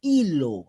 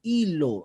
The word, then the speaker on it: Ilo: Moquegua, que se pronuncia Hilo, recuerden, Hilo, es un puerto de Moquegua, Hilo.